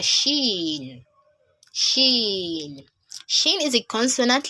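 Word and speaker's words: شين: It is quite similar to the sound sh, sh, as it is pronounced as sh. So an example is when we have shape, short, shame, shed. So there, the sh sound in those words is similar to the pronunciation of letter Shin in Arabic, as in Sheen.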